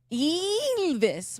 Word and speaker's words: Ylvis: What's fun is I don't even know how to pronounce it. Oh. Yeah. Luden Fleikenstein. Ylvis.